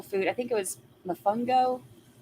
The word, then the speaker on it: Mofongo: um I think that's what like oh yeah Mofongo okay so that is what it is like